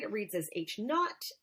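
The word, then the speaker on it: H₀: we could read it we can read it as looks write read as H naught that's how you would spell it but it's like I'm not like a KN ot not H naught H o or H no so whenever we see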